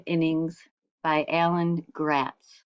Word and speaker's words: Gratz: Chapter 2 of the Brooklyn Nine, a novel in 9 innings by Alan Gratz. His last name rhymes with rats.